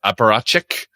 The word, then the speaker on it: apparatchik: Apparatchik.